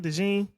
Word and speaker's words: DeJean: Yeah, DeJean had a amazing game. That's how you say his name, DeJean.